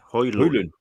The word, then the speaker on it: Højlund: No, it's no D at the end. Højlund.